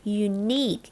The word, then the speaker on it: unique: U E นะ คะ อ นี้ แบ่ง เป็น 2 พยางค์ เน้น เสียง ที่ พยางค์ ที่ 2 นะ คะ ออก เสียง ว่า unique นะ คะ unique นะ